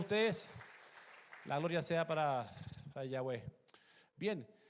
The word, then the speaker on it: Yahweh: Pero para que se pronunciara, se dice Yahweh. Diga conmigo Yahweh.